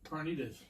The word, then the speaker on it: carnitas: So I wanted to make my pork, how do you pronounce that word? Which one? Pork what? Carnitas? Carnitas. Yeah, pork carnitas.